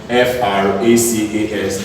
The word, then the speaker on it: fracas: S is silent in F-R-A-C-A-S, it's called fracas.